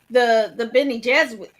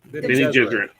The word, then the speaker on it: Bene Gesserit: And I think that the Bene Jesuit. How do you say it? Bene Gesserit.